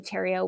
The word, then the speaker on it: Theriot: And so it's just my name, Tero, which is spelled the riot.